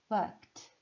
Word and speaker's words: worked: Então, esses sons finais fazem com que a pronúncia do ED, easy, se transforme em T, que é o T de tatu. Ouça. Worked, stopped, washed, fixed, kissed, laughed.